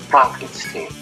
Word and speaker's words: Frankenstein: directly remaking some scenes Frederick Frankenstein pronounced Frankenstein oh uh sorry is